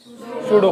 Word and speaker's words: pseudo: पी बोले तो सूडो force, ये पी सूडो का पी है, ये पी साइलेंट है ना, तो ये सूडो फोर्स।